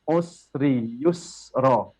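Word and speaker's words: عُسْرِ يُسْرًا: Ketika kita benar bacanya usri yusra.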